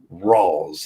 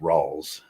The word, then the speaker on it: Rawls: old he studied his whole life on uh spell it out uh ross rolls uh it's our a-w-l-e-s rolls uh oh okay okay yeah that's it okay